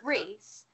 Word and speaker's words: Rhys: His name's Reese, although it's spelt Rise, RHYS. He's new. He just joined the community, but it's actually pronounced Reese. His name's Reese, the Creature Cave, and he's a really good